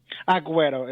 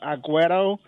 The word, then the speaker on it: Aguero: going to be uh Aguero. It's like you say an O at the end.